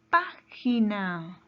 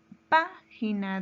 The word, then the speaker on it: página: La palabra página. página. ¿Dónde lleva la mayor fuerza de voz? En la antepenúltima sílaba. Entonces es una palabra esdrújula y colocaremos una tilde.